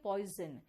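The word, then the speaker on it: poison: आप कभी पॉइजन कहते हो क्या? नहीं ना, आप कहते हो पॉइजन, यानी कि एस का साउंड ज भी आ रहा है।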